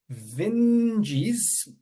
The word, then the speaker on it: Vinges: have my friend Jennifer vines on and I say that name a little bit more pronounced because I just learned how to pronounce it just prior to his recording today and I'm very sensitive